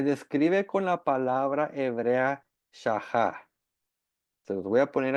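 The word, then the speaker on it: שחה: perspectiva hebrea se describe con la palabra hebrea shahá. Se los voy a poner aquí en el chat. Así se escribe y se pronuncia.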